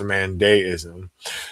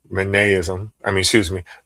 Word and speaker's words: Mandaeism: I may actually be pronouncing it incorrectly. I know that I have it spelled wrong, but from my understanding, it is pronounced Mandaeism. So I'm gonna read a little bit about Mandaeism.